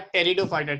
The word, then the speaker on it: Pteridophyta: टेरिडोफाइटा में जो पी है ना, पी साइलेंट है, पी साइलेंट है.